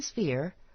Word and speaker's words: sphere: ball or a planet in sphere pronounce the pH like f